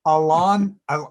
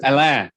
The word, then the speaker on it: Alain: not saying it right it's french alon without the end how do you say say your own name yeah sure my name is alain yeah yeah right okay